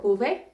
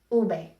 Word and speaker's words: uve: The V sometimes is pronounced V or Uve. Technically, the correct way to pronounce it is with a B sound, like almost like a light B. Ube, be.